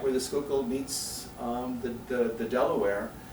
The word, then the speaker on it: Schuylkill: to spell and pronounce Schuylkill is hard enough for many people that's Dutch and uh Schuylkill um many might know